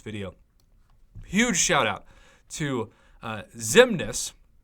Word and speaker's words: Xemnes: fantastic along with Colossus who will be the featured champion for the sake of this video huge shout out to Zim Ness xcm NES pronounced Ximena so hit me up